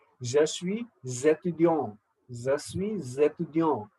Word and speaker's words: je suis étudiant: The is S is silent in je suis, last S. But because of étudiant, A, S will not remain silent. It becomes je suis étudiant.